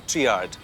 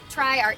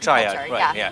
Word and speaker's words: TriArt: Is it Is it pronounced TriArt or TreeArt? TriArt. TriArt, right. Tri as in triangle.